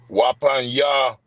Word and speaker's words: Wapanya: So Wapanya Hakwadam is face the east, right? Wapanya. Wa. Panya. No, you said it right.